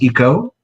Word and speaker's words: ICO: of hers who said, this is Eco. Their name is spelled ICO.